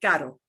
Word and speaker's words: caro: Okay, so sometimes in Spanish, you'll get a single R, like a word like caro. Caro, caro has a single R.